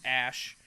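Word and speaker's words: Æ: And then AE is pronounced Ash.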